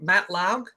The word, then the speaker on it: Matt Laug: Matt Laug is touring as the drummer for AC/DC now. Do I have his name right? Yes, you say it right, as far as I know.